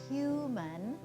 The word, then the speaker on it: human: Even in just the word human, we have hu, which is stressed, and mun, which is unstressed. And you can probably notice the difference between the two syllables. Hu, the vowel sound is long and clear and kind of seems louder, and mun, even though it's spelled M-A-N, you don't really even hear the ah anymore. It's reduced to just a sound.